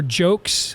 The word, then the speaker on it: Joecks: It is written by a guy named Victor Jokes, I think is how it's pronounced, Joecks.